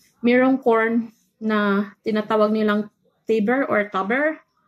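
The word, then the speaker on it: Taber: Saka, during summertime, mayroong corn na tinatawag nilang tuber or tuber. Tuber ata pag pronounce yon, pero T-A-B-E-R.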